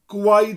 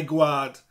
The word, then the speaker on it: gwaed: And we'd normally say gwaed for blood, but it has to rhyme with tramad, I gwad. So that's why I'm saying it that way.